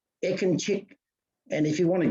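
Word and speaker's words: Ekincik: what Greg just did, when you see the C, you pronounce it ch, as if it was ch, Ekinchik.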